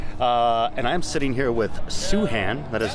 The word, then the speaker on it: Soohan: know that much and I'm sitting here with soo Han that is how you pronounce it you see Han su Han yes